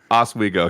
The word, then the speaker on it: Oswego: If anybody knows anything from this podcast, I will mispronounce it. Oswego. Oswego. How do you say that? Oswego. Swego? Oswego, yeah.